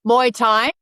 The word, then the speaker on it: Muay Thai: and Hannah, please help me with the Muay Thai. Muay Thai, okay.